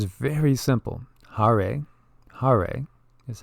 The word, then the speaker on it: Hare: is the mantra and it's very simple Hare Hare is how you say it Krishna is like